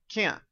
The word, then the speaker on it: can't: In the negative, a short sound, can't, can't. No, you can't. Now, notice the N and the T are not pronounced, and the sound stops.